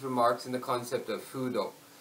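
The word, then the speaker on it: 風土: He even couches his remarks in the concept of fudo, feng de, in Chinese, an ancient Chinese term signifying, that's the wrong Chinese pronunciation, but an ancient Chinese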